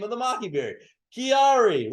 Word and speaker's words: QuiAri: is from Maki the re is the first syllable scientific name of the Mockingbird Chiari right so let's get that let's get that